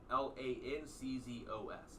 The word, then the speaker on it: Lanczos: L A N C Z O S. L A N C Z O S.